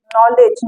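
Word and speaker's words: knowledge: बाद न आए तो अगर के के बाद बाद यन आए तो के हमेशा साइलेंट होता है ऐसा आप सब देखे होंगे कि जैसे नॉलेज जैसे काइट जैसे कि सॉरी किंग नहीं नॉलेज नो नी नॉक टीसी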